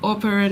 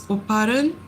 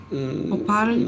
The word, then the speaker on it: Oparin: Okay, apparently my pronunciation of Operin is incorrect. It's Oparin. Oparin.